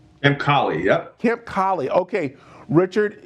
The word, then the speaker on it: Colley: i say it right i'm colleen yep camp collie okay richard it's that time of year uh